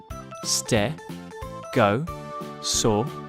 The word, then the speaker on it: stegosaurus: learn all about stegosaurus how do you say that again stare go saw russ can you say it with me stare go saw so what do we